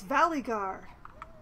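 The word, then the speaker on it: Valygar: not how it's pronounced just like the guy's name is Valley guard with emphasis on the valley right thear yes that's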